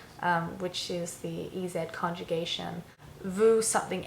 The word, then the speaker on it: vous: keep in mind that the S at the end of vous becomes a, even though it's not pronounced when you say vous, it takes on a Z sound in front of the vowels.